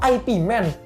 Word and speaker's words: Ip Man: Gramedia, Mbak ada film Ip Man nggak? Ah, Ip Man apa? Terus oh, maksud kamu IP Man? Hah? Kenapa jadi IP Man? Ya cuman ya sebenarnya bacanya Ip Man ya.